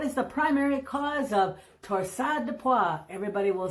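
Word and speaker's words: torsades de pointes: Torsade de pois, not to be confused with torsadus des pointus, if you come from Wisconsin and pronounce every letter you see in a word.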